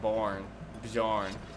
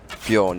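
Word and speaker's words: Björn: I think the peppering by Paolo and Bjorn. You don't pronounce the J, I'm assuming. Bjorn, yeah, I think it's Bjorn.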